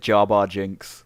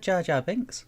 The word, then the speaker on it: Jar Jar Binks: Yeah, I think you said Jar Bar Jinx. Bar Jar Jinx. I didn't say I said Jar Jar Binks.